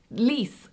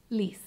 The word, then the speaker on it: Lies: with these jokes lis is a dutch name for a lady or a woman a female name but it's spelled lies so you might see lies like this book was written by lies lis it's actually really pretty